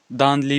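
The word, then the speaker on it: दांडेली: बादरा भी कर्नाटका में और दांदली भी या दांदीली भी, ठीक है, जिस हिसाब से आप इसको प्रोनाउंस कर सकते हो, ये भी हमें कर्नाटका में देखने को मिलती है।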